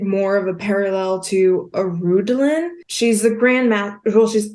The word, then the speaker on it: Arundolyn: in a way is more of Arundhelen. Is how I remember how to say his name.